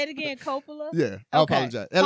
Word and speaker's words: Coppola: Coppola.